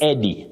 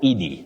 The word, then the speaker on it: Eddie: So like this name, it's just Eddie, not Edie.